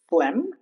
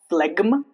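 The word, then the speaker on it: phlegm: G before M. Flem diaphragm. It's not flegma. Diaphragma. Those are wrong.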